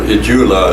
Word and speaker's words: Itsula: You know, Itsula is about, or Itsula is actually how it's pronounced, I should say.